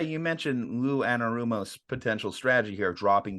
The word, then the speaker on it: Anarumo: Now, I will say, you mentioned Lou Anarumo's potential strategy here of dropping guys back.